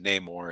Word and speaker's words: Namor: now Namor has the actually Stanley always pronounced that name or and he was probably around to talk with the Creator at the time so I'll go with namework so Namor he was